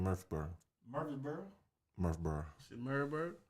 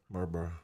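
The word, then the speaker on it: Murfreesboro: know it's iggy okay how you saying murphy murphy's borough murph bro when i first moved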